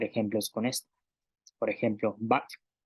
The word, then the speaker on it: bak': Por ejemplo, back con la consonante K más la glotal que tiene una pronunciación de K. Tenemos un sonido en la ovular, back, que significa carne.